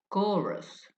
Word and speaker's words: chorus: Because the ch for example chorus the ch in chorus is actually pronounced c in Greek language.